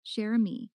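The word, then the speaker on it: Cherami: Ara, her name is pronounced Rose Chami Sherami.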